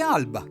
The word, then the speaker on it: alba: Si dice alba. Si scrive A-L-B-A.